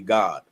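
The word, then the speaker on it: גד: Not God the way we say God in English, but Gad in Hebrew would be God. It would be pronounced God.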